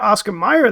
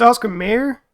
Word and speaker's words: Oscar Mayer: I'm pointing at it hopefully I've been calling it Oscar Meer though but it's Oscar Mayer I didn't even think